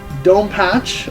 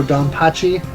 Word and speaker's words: DonPachi: I've got Dome Patch, as the game calls it, or Donpachi, however you want to pronounce it.